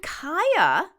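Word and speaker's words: Kaia: And we mentioned Kaya in one of the last episodes, K-A-I-A. It's like Maya with a K, and that's been hitting the charts too.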